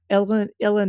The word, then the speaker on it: uilleann: Uilleann is it's spelled something crazy like Eulalian, Yeah, it's a Gaelic, Right.